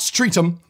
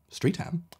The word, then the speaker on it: Streatham: So easy enough, not Streatham or Streatham. Streatham sounds quite nice.